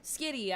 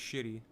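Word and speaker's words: Valerio Schiti: Skitty. I've been saying it wrong the whole time. I found this out last time. Thought it was shitty. It's not. It's Skitty.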